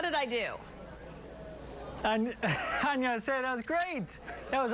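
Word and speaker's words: 안녕하세요: Annyeonghaseyo, that was great. That was awesome. There's a G in there, apparently, technically, like but G? Nobody pronounces it. They just say Annyeonghaseyo. Yeah, it's a soft, soft G.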